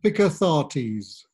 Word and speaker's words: Picathartes: you just repeat that one more time and pick authorities awesome awesome mr johanna i hope you had